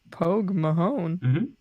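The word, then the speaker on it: póg mo thóin: there poke Mahone yep the th is like uh it's just a h so the t is silent h Pogue Mahone which is what am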